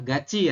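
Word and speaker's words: 같이: Bukan gati tapi gaci. Tulisannya gati tapi dibacanya gaci. Gaci kemudian gayo. Harus lebih perhatian lagi ya sama soalnya. Kenapa dibacanya gaci, Mas Haris? Karena konsonan diat bertemu dengan vokal i, maka berubah menjadi diat. Ci ya, jadinya ci ya.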